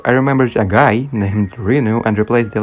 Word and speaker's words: Rezu: But it wasn't something serious, so I always said Rezu.